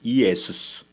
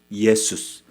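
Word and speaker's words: Ἰησοῦς: 헬라어 원문의 발음은 예수님의 이름이 뭔지 압니까? 예수라고는 아니지만 이예수예요. 이예수스. 예수스.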